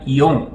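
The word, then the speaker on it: よん: mas no Japão existe uma alternativa para se pronunciar o número quatro que seria yon e essa superstição vai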